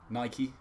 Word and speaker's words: Nike: yeah it's based on the Greek godess Nike it's actually Nike so there's some knowledge for you portion Porsche yeah does